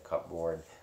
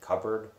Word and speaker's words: cupboard: it was pretty funny uh hey yeah indiana cupboard i don't know yeah i don't know why i got robbed on that i said cupboard i was gonna joke and say cup board